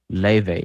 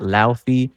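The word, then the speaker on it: Laufey: f y it's pronounced Le not Lai because her name is Icelandic she's from Iceland oh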